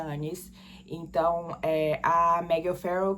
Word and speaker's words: Agnes: do pai dela, eh, o nome dela tava escrito como Anes, Agnes, mas pronuncia Anes.